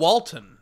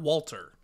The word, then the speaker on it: Walton: Walton, not Walter. Walter? Walton Goggins. Walter Goggins? Walton. Sorry. Pretty sure it's Walton.